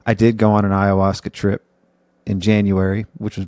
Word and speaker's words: ayahuasca: I know my parents have a hard time pronouncing it. It's ayahuasca.